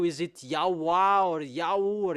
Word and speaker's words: Yahweh: encyclopedia with Wikipedia that in Jewish they pronounce W into V, and that has been from minus 200.